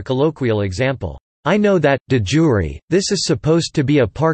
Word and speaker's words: de iure: Latin pronunciation, de jure, describes practices that are legally recognized, whether or not the practices exist in reality.